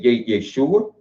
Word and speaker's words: Yeshua: So, you dealing with a black man called, they call him, some of our Israelite brothers pronounce it Yahawashah. Some pronounce it Yehoshua. Some say Yeshua.